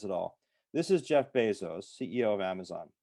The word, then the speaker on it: Bezos: This is Jeff Bezos, CEO of Amazon. The name's pronounced Bezos, not Bezos, by the way.